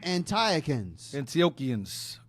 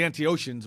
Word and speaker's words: Antiochians: It's easy in the book if you see a line under the CH, it's pronounced like a C or K, like Chaldeans, Antioch.